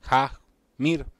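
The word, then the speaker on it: Jahmyr: hasta la habama pero pronunciarlo bien porque vamos a hablar de jackmir escribe jh Ja mir jamir gibbs el corredor del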